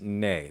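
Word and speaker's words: نـ: make it negative notice you add na but it's pronounced nay the reason for this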